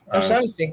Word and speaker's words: O'Shaughnessy: O'Shaughnessy, yeah.